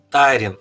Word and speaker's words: Тайрин: riley еще одного отца тайрин ой спасибо большое это важно потому что ударение как бы не ты читаешь да и звучит лучше и сразу ну там